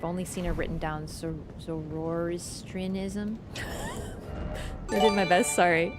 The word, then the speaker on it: Zoroastrianism: Well, there, where do I put the stress? You never give me the stress syllable. One syllable has to be capitalized, so you know where to put the stress. On the A.